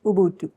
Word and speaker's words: Ubuntu: Tell us what your understanding of Ubuntu, actually that's how it's pronounced, Ubuntu.